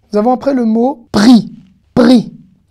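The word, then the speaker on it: פרי: Alors, certains vont dire. Péri, c'est surtout quand on fait la prière sur les fruits, la prière juive sur les fruits. Boré, péri, haetz. Non, ce mot se prononce pri, d'accord ?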